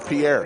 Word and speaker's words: Pierre: Ark, his name is actually Pierre. He told us that. So we are pronouncing it correctly.